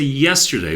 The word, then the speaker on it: yesterday: speak the word yesterday when we say yesterday we have the emphasis on the first syllable of the word so one thing you